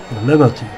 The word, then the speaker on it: Laberti: Laberti, so wird er ausgesprochen. Ja, Laberti.